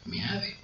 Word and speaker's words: Meade: Se escribe meade, se pronuncia meade.